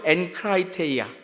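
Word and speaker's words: ἐγκράτεια: 근데 헬라어로 절제는 앤크라이테이아입니다. 한번 따라 보세요. 엔크라이테이아.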